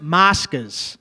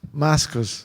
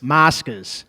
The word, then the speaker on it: Moscas: It's called Moscas, okay? Okay. They don't even let you in there with a phone. This is real Italian. Please. What's the What's the name? Moscas. Mascus. Moscas.